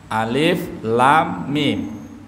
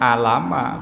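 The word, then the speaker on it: الم: Dibacanya bukan alama, bukan, tapi alif lam mim. Karena ini mengacu kepada tajwid, maka cara membacanya menggunakan kaidah ilmu tajwid. Alif lam mim, bukan alam ma, bukan. Karena dulu ulun waktu belajar teman saya membacanya alama.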